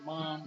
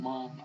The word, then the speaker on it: ma'am: I think most people in the cities, they have learned how madam should be pronounced and they call it as mom, mom, like that.